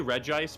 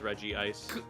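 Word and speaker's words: Regice: I don't know why because like because so it's actually re ice but I say like that's dumb because there's rea steel and reggi rock. So then why would it change to re ice? I will say though um uh Ash says Reggie Ice.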